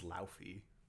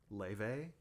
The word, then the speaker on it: Laufey: She I always thought her name was Laufey. Laufey? Yeah, look at how it's spelled. What is it? Leve. Jeez. She's from Iceland. You were dead wrong.